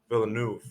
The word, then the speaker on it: Villeneuve: adapting the book and uh dennis uh villain villeneuve that's how i pronounced his name the director he really wanted